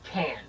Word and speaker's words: Cannes: Cannes. Cannes. Cannes, like a can of the soup.